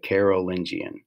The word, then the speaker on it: Carolingian: the carolingian empire okay it's hard to say carol lynchian it's weird but that's um that's actually how it's pronounced so this was the